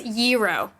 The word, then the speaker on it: gyro: it's it's Euro. What? Yeah, no, like the actual like Gyro?